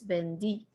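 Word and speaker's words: vendí: it's an e accent so it's not bender it's bendy bendy bendiste bendio bendimos bendistes bendieron notice that the way i pronounce the v and the b are exactly the same they're no they're not different like in english vb no in spanish they both sound like b so it's not a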